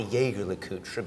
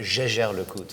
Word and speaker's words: Jaeger-LeCoultre: I'd like to present you guys with the Jaeger-LeCoultre, not the Jaeger-LeCoultre, but the Jaeger-LeCoultre.